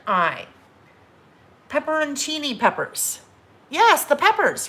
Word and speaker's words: pepperoncini: c i n i pepperoncini peppers yes the peppers right pepperoncini peppers um in a jar so i always call them pepperoccini pepperoccini they're not called pepperotini i learned that's pepperoncini chini i don't know